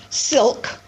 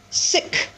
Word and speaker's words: silk: And if you notice, silk, pronounced silk, S-I-O-K, right? So silk flowers. But Sam had a pronunciation problem. Sam's pronunciation problem had to do with the fact that he had difficulty pronouncing that final consonant cluster, O-K, silk. So what Sam did instead of pronouncing silk flower, you can probably guess. Sam pronounced this word sick flower.